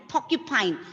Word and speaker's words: porcupine: Ma'am, so porcupine, right? Yes, porcupine. Yes, exactly. See, porcupine. Again, R is coming before a consonant sound, right? Before ka.